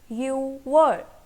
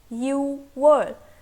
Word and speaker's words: 유월: Alright, now comes June, and June in Korean language is 유월. 유월.